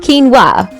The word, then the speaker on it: quinoa: Quinoa, pronounced quinoa, for those still guessing, is the superfood that pretends to be a carb, but is secretly a protein-packed nutrient bomb.